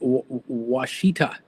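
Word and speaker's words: Ouachita: a walk in the I can't pronounce that pronounced wasita that that the wasta mountains thank you for helping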